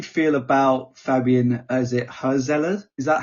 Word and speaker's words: Hürzeler: how do you feel about Fabian is it herela is that how you pronounce it h how's it said herzler herzler um as as the Brian's new manager